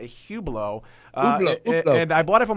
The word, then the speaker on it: Hublot: even pronounce it and it is pronounced a Hublot and I bought it